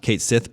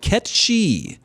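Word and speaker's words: Cait Sith: the pronunciation of Kate's it is actually not Kate Sethe but catch she what it comes from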